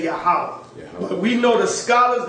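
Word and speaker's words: Yahweh: that's why they got it written Jehovah but if you read in the Hebrew it's going to say yahwah just like y have in his book that this seems to be the true Hebrew pronunciation of the Divine Central name yahwah or Jehovah got it right here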